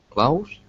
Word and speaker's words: clothes: And that's a little bit more difficult to say, but keep in mind in both Englishes, both American and British English, the E is silent.